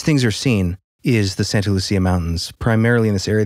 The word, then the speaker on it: Santa Lucia: It's got to be Lucia. That's what I thought, but according to like the Santa Lucia Highlands, I guess, is like big wine country. So the only pronunciation I could find online was a guy reviewing wine and he called it Santa Lucia. Hmm. So apparently if you're a local, that's what you say.